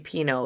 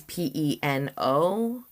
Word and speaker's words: Peno: Host creates an unhinged bio about Sher Pino. Yes, it's spelled S H E R I and the last name is P E N O like peno, but it's pronounced pino.